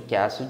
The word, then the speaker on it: castle: The Road to Castle Dracula é o caminho, né, para o Castelo Drácula. Castle. Castle. Castelo é pronunciado assim.